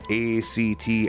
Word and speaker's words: actinomycetes: The smell of rain is caused by bacteria called, I can't pronounce it, actinomycetes. It's actinomycetes.